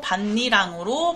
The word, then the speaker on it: 밭이랑: 흙을 올려 만든 두둑한고 따라서이 뒤에 오는이는 형식 형태소가 아니라 실질 형태소에 해당하기 때문에 9개월마가 일어나지 않고 음절의 끝소리 규칙과 비음화 그리고 니은 첨가가 일어나서 반니랑으로 발음이 되는 거예요 그 다음에 교체 마지막